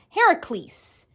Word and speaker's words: Heracles: to Hercules first up his name in the story is pronounced hor ISC Heracles and opposed to Hercules but I'll be using